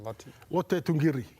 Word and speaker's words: Lote Tuqiri: Lote Tuqiri.